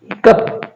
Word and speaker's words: hiccough: अपने पास में एक वर्ड है जैसे HICCOUGH, हिकअप, हिकअप क्या हो जाएगा, हिकअप हो जाएगा। तो इसी प्रकार उच्चारण का जो नियम है आज हमने पढ़ा